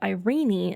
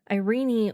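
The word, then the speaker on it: Irene: In England, Irenie was pronounced closer to the Greek pronunciation with three syllables.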